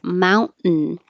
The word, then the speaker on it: mountain: release the airflow so instead of saying Mount 10 with a t that releases and going back to the end you're just holding it there Mount and hold it so it's a very shortened but you can't release the air and say oh you can you can say Mountain it's not wrong it's just more correct it's very correct